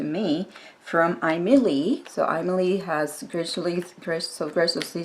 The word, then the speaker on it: Aimeili: so again this is the name is pronounced Emily and the two colors